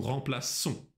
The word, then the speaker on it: remplaçons: Nous remplaçons. Vous remplacez. Il remplace. Elle remplace. Обращай внимание на форму, на «ну». Мы тут тоже добавляем хвостик над буквой «с», под буквой «с», чтобы получила звук «с». Nous remplaçons.